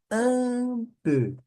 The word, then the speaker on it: un peu: E un peu. Un é o número um. Un peu. Un peu. Um pouco. Un peu.